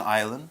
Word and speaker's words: island: What is an island? An island. Island is our word power word. It's spelled I-S-L-A-N-D, island. Isn't that an island? No, island. Okay. Now, island, the S is silent.